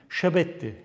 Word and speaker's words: şebetti: Şebetti. Şebetti de Mezopotamya'da 7 demek. Yani biz bunu ne diye o zaman telaffuz edeceğiz? Şebetti diye telaffuz edeceğiz.